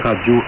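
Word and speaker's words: ラジオ: et radio est devenu. Radio. Le R de radio est prononcé comme un L.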